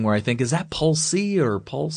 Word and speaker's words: Polce: foremost uh is your is your last name pronounced is it pulse pulse yep you got pulse okay because it I don't know maybe it's like an Italian thing where I think is that pulsee or pulse say or all kinds of pronunciations